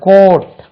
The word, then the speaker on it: coat: இது ரெண்டுக்கும் உச்சரிப்பு வித்தியாசம். இதே உச்சரிப்பு பாருங்க, கவுட், இது கவுட், இது கோட், ரெண்டும் ஒரே உச்சரிப்பு இல்லை.